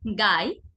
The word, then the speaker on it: গাই: একইভাবে গাই, ঘাই। গাই হচ্ছে গ অল্পপ্রাণ, ঘাই আবার ঘ মহাপ্রাণ।